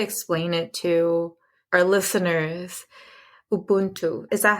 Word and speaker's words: Ubuntu: Ubuntu. Is that how you pronounce it? Yes, that's how you say Ubuntu.